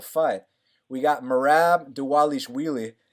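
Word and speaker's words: Dvalishvili: we got mer AB de walle sh wheelie the V's are actually uh pronounced as double use merabh d Wallisch melee he's eight and four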